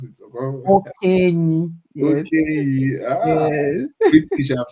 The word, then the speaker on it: Okenyi: Okay, did I pronounce it? Okenyi.